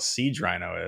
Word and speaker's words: Siege Rhino: I don't know what the hell a Siege Rhino is.